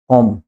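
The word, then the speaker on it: comb: बाय कम ठीक है ये जो कम होता है इसको बी साइलेंट रखेंगे आप इसको कम ब नहीं बोलोगे ये बी साइलेंट है कोम बी कंप्लीट साइलेंट ता है जिसका एक्सेंट है कॉम क्या गंजे ने क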